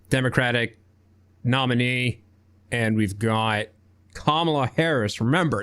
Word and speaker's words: Kamala: So we've got Joe Biden as the now official Democratic nominee, and we've got Kamala Harris. Remember, it's pronounced Kamala, not Kamala.